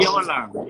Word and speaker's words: Urquiola: Urquiola. Say it wrong. Urquiola. Yes. I personalize it. I like it. It's good. You know, it's a Basque name.